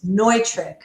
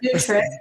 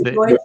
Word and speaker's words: Neutrik: So it's Neutrik. That's right. Yes, not Neutrik, although, we'll take it, but it's Neutrik, it's Germanic, right?